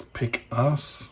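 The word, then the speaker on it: Pik-As: JG53 was known as basically the Ace of Spades wing, which in German it's Pick Ass, which doesn't sound awfully good in English, but there you go.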